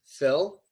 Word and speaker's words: Phil: not homophones at all it's Phil and feel completely different pronunciations Phil pH Phil pH so Phil is my name